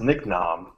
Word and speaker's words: Niknam: Last name is pronounced Niknam. Niknam.